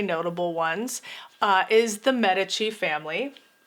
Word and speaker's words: Medici: ones uh is the medici family also heard it pronounced medici i think it probably depends on your accent and which language you're speaking but the medici family